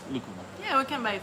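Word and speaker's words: lúcuma: that fruit's so good I dream about lakuma or lukuma there's some pronunciation I always do wrong but it's lucuma yeah we can buy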